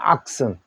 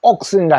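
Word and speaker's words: oxen: 악슨이라고 합니다. 악슨. 우리나라 옛날 그룹 사운드 악슨이 있었어요. 악슨. 여러 악슨이라 해도 되고 옥슨이라 했는데 우리나라 그룹 사운드는 우리 옥슨이라고 말했어요. 옥슨. 영국식 발음을 했는 거죠.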